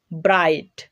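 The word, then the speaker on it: bright: কোনো ওয়ার্ডের মধ্যে আই এর পরে জিএইচ থাকলে জিএইচ এর উচ্চারণ হয় না। যেমন ব্রাইট, রাইট, ফাইট, টাইট।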